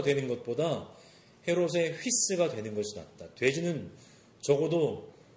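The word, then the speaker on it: ὗς: 아들은 그리스말로 휘오스이고요. 돼지는 그리스말로 휘스입니다. 발음이 되게 비슷하죠. 아우구스투스가 이렇게 얘기했다고 합니다. 헤롯의 아들이 되는 것보다 헤롯의 돼지가 되는 것이 낫다. 헤롯의 휘오스가 되는 것보다 헤롯의 휘스가 되는 것이 낫다.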